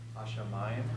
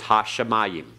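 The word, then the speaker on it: הַשָּׁמַיִם: Hashamayim. Okay, remember the pathak? Shamayim. And notice the doubling dogish in the sheen. Shamayim. Okay, everyone? Shamayim. Modern Hebrew says Hashamayim. All right, we're pronouncing it as biblical Hebrew.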